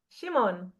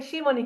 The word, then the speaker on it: Shimon: Uh Shimon, we say Shimon in Hebrew.